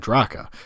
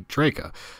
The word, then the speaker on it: Draka: When referring to said slaveocracy, I've been saying Draka. Johnny Pez, author of The Drowned Baby Timeline, one of my favorite online alternate histories, however, commented on my last video that the pronunciation should be Draka, since the country was named after Sir Francis Drake, which is also something